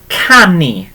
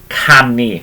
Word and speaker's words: canu: Okay, if we're singing, okay, so singing is, or to sing is canu.